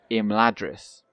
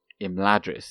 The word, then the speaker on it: Imladris: word like the um the focus is always on the first syllable well pretty much always so it isn't it isn't uh imladris it's rather so it's